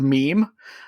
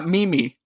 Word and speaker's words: meme: That's when uh when I I found out that Ryan uh didn't know how to pronounce the word meme. Um that was you know what uh Mimi I believe it was. He said Mimi.